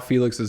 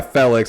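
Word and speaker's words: Félix: It's Felix. Like, Felix. You fell over, Felix, not Felix.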